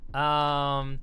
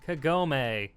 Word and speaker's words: Kagome: Kagome! I think that's how you say it. Inuyasha. Is that how you spell it? Kagome.